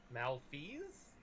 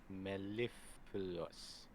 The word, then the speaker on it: mellifluous: Malfeas? No. Mellifluous.